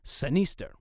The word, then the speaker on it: sinister: had been Anglicized as sinister. The modern pronunciation of the word sinister, with the short I sound in the middle, did not come about until approximately the 18th century.